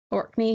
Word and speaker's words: Orkney: He's in from Orkney. Am I saying it right? Yeah. Orkney, yep, that's way up in the north.